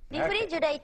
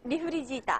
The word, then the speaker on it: refrigerator: sound correctly, your tongue, the tip of your tongue, cannot touch the top of the roof of your mouth. If you feel it touch, it's wrong. So, it's just sitting there in the middle, kind of curled back, not touching anything. Re, instead of uri, which is flicking outward and touching, so it shouldn't touch.